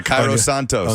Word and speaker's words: Cairo Santos: Santa's Santos how you say his name yeah Cairo Santos on the other side my Brazilian brother the